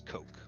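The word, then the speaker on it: Koch: ain't that much better the official pronunciation is Coke so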